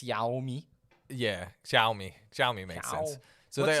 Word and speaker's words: Xiaomi: How do you pronounce this company's name? Xiaomi, right there on my TV. Xiaomi. Xiaomi. I'm Okay. pretty sure it's Xiaomi.